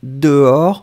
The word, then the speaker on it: dehors: en permanence et c'est dehors elle veut aller jouer dehors souvenez-vous que alors faites attention peace maker dehors c'est avec un s à la fin on ne prononce pas le s mais on devrait quand